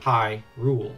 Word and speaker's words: Hyrule: that's happening that's interesting High rule the land of h y is pronounced like h i g h rule of course we know